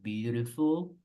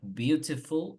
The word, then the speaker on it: beautiful: La T en inglés americano, en medio de dos vocales, tiende a sonar como una R. Entonces vamos a pronunciar como beautiful, pero también puedes pronunciar beautiful, lo que sí no pronuncien beautiful, porque beautiful, si notan la T es más débil en español. So it must not sound like that. You say beautiful or you say beautiful.